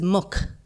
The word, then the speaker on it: muc: You have to change the pronunciation of the next, of the first syllable or the first consonant of the word muck.